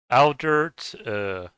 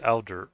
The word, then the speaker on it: Aldert: Aldert. That sounds like Albert, but it's Aldert, I think.